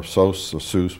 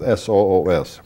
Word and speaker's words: Soos: our Zeus and they some people call it sauce but it's s-o-o-s where he was a